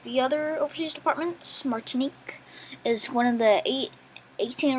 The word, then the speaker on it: Martinique: Okay, that's how you pronounce it. Martinique.